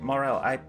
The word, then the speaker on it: Morell: Morell, I'm pronouncing your family name correct?